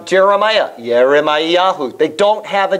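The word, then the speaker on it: ירמיהו: If you see the name Jeremiah, Yeremiahu.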